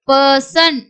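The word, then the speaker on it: person: அதுக்கு அடுத்தது பாருங்க ப ப சன் பர்சன் பர்சன் படிக்கக்கூடாது. பர்சன் அந்த ஆர் வந்து சாஃப்டா உச்சரிக்கணும்.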